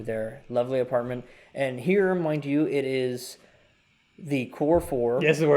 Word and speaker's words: Mindy: you say it right I know it's Mindy Mindy I was gonna say if you said Mandy again I was like I'm not a I've said it I've said it correctly in the podcast okay